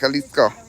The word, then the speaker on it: Jalisco: All right, so it's a Spanish pronunciation. So it'd be more like Jalisco.